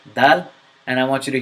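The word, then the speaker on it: دال: It's dal, not dal.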